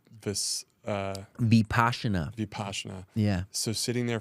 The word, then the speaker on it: Vipassana: just being in that 10-day, what's called this Vipassana. Vipassana. Yeah. So sitting there for 10 days and it's spelled like Mississippi, like VIPPA double SANA. Vipassana.